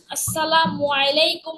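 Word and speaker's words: السلام عليكم: আসসালামু আলাইকুম ওয়া রাহমাতুল্লাহি ওয়া বারাকাতুহু। আচ্ছা, এখন শোনো, সালামটা যখন আমরা দিব তখন আসসালামু, মিমের পেশটা সঠিকভাবে উচ্চারণ করব। এরপরে আলাইকুম, আইনটাও ভালো করে উচ্চারণ করব এভাবে, আসসালামু আলাইকুম ওয়া রাহমাতুল্লাহ।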